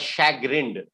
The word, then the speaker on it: chagrined: e d correct yes you pronounce the word as shag grind yes yes what is